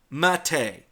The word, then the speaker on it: MATE: matei Martin whim pris he pronounces it mate a which is the way I pronounce it because I really can't do the Spanish pronounce me pronunciation justice it it should yeah I'm